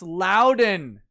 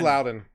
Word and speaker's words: Loudoun: signaling after va tech it's pronounced louden loudoun is louden loud and calm yeah